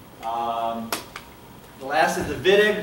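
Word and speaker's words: Wittig: to do it quickly viig looks like whittig but the Germans pronounce it viig um anything in the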